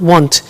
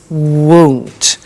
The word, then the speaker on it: won't: be careful with the pronunciation it's not want it's won't so the example is i